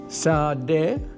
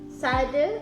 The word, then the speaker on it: Sade: Sade, Sade and Sade, Sarden and Inden.